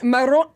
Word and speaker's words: Morrone: You gotta be able to say Morone. Yeah. Let me just say that I pronounced it like did.